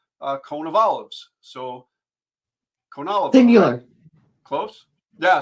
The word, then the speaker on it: Konovalov: it up but uh the phonetic spelling is uh cone of Olives so conol singular close